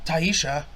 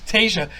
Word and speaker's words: Tayshia: They fucking fly in Taisha. That's not her name. Taisha. How do you say it? Tayshia.